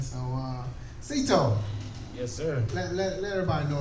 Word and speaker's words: Citoe: My name is Cito. Not Saito or none of that. When people see me on social media, they see me in public. It's Cito. C-E-E. S-E-E-T-O-E, just to pronounce it. C-I-T-O-E.